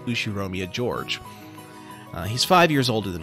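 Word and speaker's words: Ushiromiya George: his name is spelled like this and it's pronounced ushiromia george he's five years older than me so he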